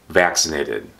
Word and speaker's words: vaccinate: verb get i got vaccinated or i was vaccinated as a verb use vaccinate vaccinate the c is a k sound and this c is an s sound vaccinate the past tense